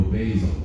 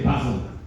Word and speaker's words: basil: "I like to grow basil. and my ears pricked up at that. I thought, "Wow, Robert, you're you're pronouncing it wrong." In the UK, we say Basil. But obviously, respectfully, you say Basil.